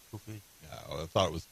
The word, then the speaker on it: kufi: That's the way it's pronounced, kufi.